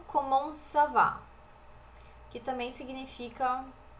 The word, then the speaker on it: comment: Seria comment, aqui o T não é pronunciado, comment vas-tu? O S também não é pronunciado.